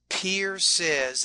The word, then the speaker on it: pierces: this particular word here pierces pierces actually has two syllables there so don't forget sometimes